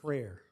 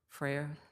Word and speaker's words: Frere: Frere. Frere, yeah.